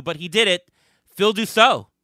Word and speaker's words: Dussalt: hard to do but he did it Phil do so how are you did I am I pronouncing it correctly by the way yep you're